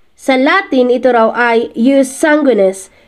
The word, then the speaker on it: jus sanguinis: Sa Latin, ito raw ay Jus Sanguinis. Jus Sanguinis. Sa American pronunciation naman, pwede rin daw ang Jus Sanguinis.